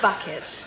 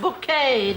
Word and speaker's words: Bucket: yes we have a bucket pronounced bouquet yeah Cat Valentine and